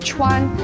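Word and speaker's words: 串: or in the doorways of restaurants everywhere it's pronounced Chuan and it looks just like a kebab and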